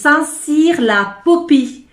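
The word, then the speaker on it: Saint-Cirq-Lapopie: I found myself a parking in, let me say it right this time, is Saint-Cyr-la-Popie, which is one of the most beautiful villages of France.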